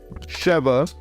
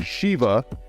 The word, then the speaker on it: Shiva: With the DLC, it gave you 3 new characters: Max, the original character from Streets of Rage 2, Sheva, or Shiva. I got that name wrong.